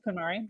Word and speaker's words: KonMari: Is that how you pronounce that? KonMari?